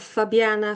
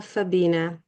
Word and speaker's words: Fabina: Thank you so much for having me and I will promise I will never make mistakes instead of Fabiana Fabina.